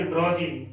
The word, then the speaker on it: drowsy: Then 11th word is DROWSY, इसको pronunciate करेंगे ड्रॉजी।